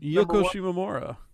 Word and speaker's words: Yoko Shimomura: Yoko Shimomura. That's right. Yoko Shimomura did He pronounced it right too.